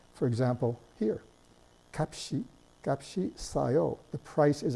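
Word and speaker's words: 값이: silent, pays off, because here the shiot actually gets pronounced. This is kapshi.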